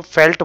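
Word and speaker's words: veld: होगा आपको, ठीक है, लेकिन बोलते हैं वेल्ड को फेल्ट बोला जाता है, ठीक है, लगा लीजिए ऐसे फेल्ट, लेकिन लिखते हैं वेल्ड है, तो हम वेल्ड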